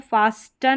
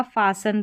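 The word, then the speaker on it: fasten: Next यहाँ पर देखें, इसको फास्टन नहीं पढ़ा जाएगा, फासन पढ़ेंगे, यानी एस टी ई एन में जो टी है ये साइलेंट रहेगा।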